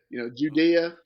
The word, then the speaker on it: Judea: So I just use that example with Jesus just to say that, Judea is was that first syllable is Jew, and for a reason.